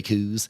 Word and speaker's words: coo: they were huge, hairy coos. But but they, how do you say cow in Scottish? Yeah, coo.